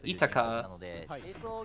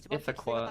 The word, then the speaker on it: Ithaqua: I I thought it was Itago for the longest time because they pronounce as Itaka in Japanese, but it's Ithaqua, actually.